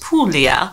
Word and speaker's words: Puglia: by the way uh Puglia is pronounced Puglia so g is silent and you so comments